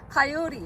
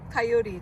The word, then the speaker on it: coyote: 그룹도 있죠 뭡니까 예 코요테 카요리 영어 발음은 요리인데요 이게 왜 그러느냐 여기 강세가 요에 있어서 그렇습니다 카요리 그다음에 왜 발음이 안